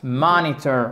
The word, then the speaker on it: monitor: Monitor. Accent tonique, il est ici.